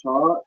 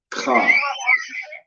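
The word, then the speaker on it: כ: So with this one isn't cha, it's pronounced ka.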